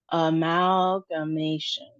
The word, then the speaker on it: amalgamation: So, we have the emphasis on the ma sound, and it's a long a sound, -ma- -tion. So, let's try it. Amalgamation.